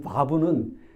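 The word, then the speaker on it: וָו: B 우리가 우리 비 근데이 바브는 우리한테는 없는 발음이에요예요 B 그래서 우리가 발음 원래 힘들잖아요 데입니다 그니까 이게 읍은 위 입술과 아래 입술이 닿지만는 안 다요 그냥 이렇게 비 그래서 바 바브 그 발음이에요 아 그래서 여섯 번째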